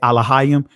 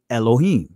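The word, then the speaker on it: אלוהים: when you say i'm when i say alihim that's the ancient pronunciation that transliterates to god some of you guys will say elohim all right but i'm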